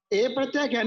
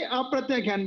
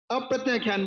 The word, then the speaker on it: अप्रत्याख्यान: ए प्रत्याख्यान नहीं, अप्रत्याख्यान बोलो। ए आ का ए क्यों उच्चारण करते हो? हैं? यहाँ का आ का ए हो जाता है, ए प्रत्याख्यान। अप्रत्याख्यान बोलो, अप्रत्याख्यान।